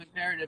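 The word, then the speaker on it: Im'Peretiv: definition of imperative?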